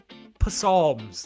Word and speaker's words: Psalms: There are 150 hymns in which Old Testament book with a silent letter? Some people call them hymns, others call them psalms.